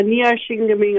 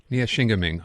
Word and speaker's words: Neyaashiinigmiing: Uh, can you pronounce the territory in Ontario you are from, Jennifer? Uh, Nia Shingaming, Ontario. Nia Shingaming.